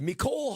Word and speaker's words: Mecole: Mecole Hardman.